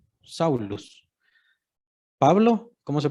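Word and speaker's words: Σαῦλος: Y Pablo, bueno, no, Saulo, en griego, pues se pronuncia algo así como Saulus. Saulus.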